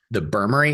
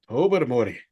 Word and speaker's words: Tobermory: The Burmery, is that what they call that? The Burmery? No, if you're from New England, you go to Tobermory.